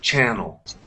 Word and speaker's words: channel: Canal, the stress is on the last A, and in channel, it's on the first syllable, on the first A. Okay? Canal, channel.